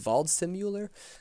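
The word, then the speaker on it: Waldseemüller: a German cgrapher named Martin, I believe it's pronounced Valdimuer.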